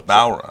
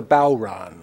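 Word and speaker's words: bodhrán: uh like oh actually bow like the bow of a ship and Ron like somebody's name so it's bowon so it's a bow Ron mhm and it's a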